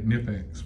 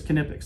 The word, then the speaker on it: Knipex: the rest of the world wants to say nepex what's the right way to say it we say it cognitives put it all together it's canipics that's the way we pronounce it how do